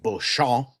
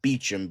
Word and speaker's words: Beauchamp: in the show Outlander, technically Claire's maiden name in that show is pronounced Beauchamp, because it's French, but she pronounces it Beecham because she was British.